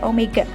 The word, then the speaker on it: omega: Kalau dulu di GLB ada V, di GMB ada omega. Ingat ya, bukan W bacanya, tapi omega.